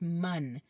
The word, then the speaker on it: من: but it's not man, it's man, man, okay? Almost like a U, man, all right?